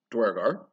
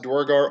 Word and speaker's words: duergar: you might have noticed i'm pronouncing duergar as duergar uh i've done the actual research it's based on it actually means dwarves and like old norse or something uh it's like either pronounced durgar or uh durgar which is what i used to say durgar and then i started